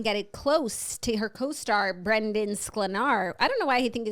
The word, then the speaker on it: Brandon: No, but also because like something about Sklenar lends itself to Brendan. Phonetically, I completely. Because there's an extra E. It's Brandon.